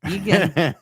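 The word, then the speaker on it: Eagan: Yeah, Egan. Egan. You said it right. I said it phonetically.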